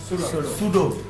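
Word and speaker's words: pseudo: তাই না, সুডো class এবং সুডো element, সুডো class P এস ই ইউ ডিও, পি এস ই ইউ ডিও উচ্চারণটা কি সুডো, সুডো class এবং সুডো element.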